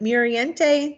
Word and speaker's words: Muriente: pierce nicole bates reuben is it muriente did i pronounce that correctly yes ma'am okay um trish